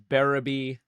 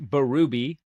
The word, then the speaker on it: Berube: Last name's pronounced Berube. Most people don't get that. I mean, it just doesn't make sense. It should be pronounced Berube.